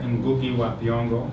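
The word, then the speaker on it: Ngũgĩ wa Thiong'o: Look at Ngugi wa Thiong'o. Oh, you're going to have to spell that for me.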